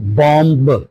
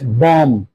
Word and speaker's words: bomb: For example, the word like bomb not bomb, it will be pronounced as bomb. B will be silent.